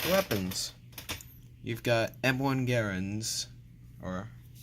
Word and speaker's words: Garand: You've got M1 Garands, or I've heard them pronounced Grands, but I've been told that it's actually pronounced Garand.